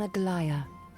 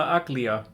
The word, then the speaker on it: Aglaya: So they pronounce it right. Then why do the people call her Aglia? Where do people get that stupid pronunciation from if they actually pronounce it right in the...